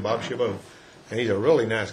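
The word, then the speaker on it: Chabot: how' you pronounce it it's from French or yeah well I would say cabat but he says shabbo yeah that's how I pronounced it but anyway that's his name Bob shabbo and he's a really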